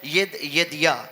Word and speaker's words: यदिया: इसकी जो प्रोनाउंसिएशन है वो है यदिया।